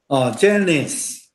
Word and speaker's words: Janice: Janice。是 Janice。重音是伫头前。